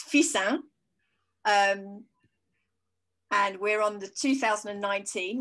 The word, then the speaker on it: Fixin: I'm even going to have to practice how to say this because it's not fixing. It's Fissin.